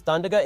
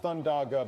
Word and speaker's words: Thundaga: idea I've ever heard if Barack gets to use thundera instead that might be faster it's pronounced thundaga but yes Joe if that's